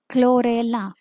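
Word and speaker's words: Chlorella: आहे ओके आता इथे क्लोरेला क्लो सी एच एल ओ रेला ओके सो हे तुम्ही प्रोनन्सिएशन वरती जास्त भर द्या व्हिडिओ रिवाईड करून तुम्ही परत परत बघा प्रोनन्सिएशन मी जस म्हणते तसच बोललात तर तुम्हाला स्पेलिंग चुकायची अजिबात शक्यता नाहीये सो नेक्स्ट पॉईंट काय आहे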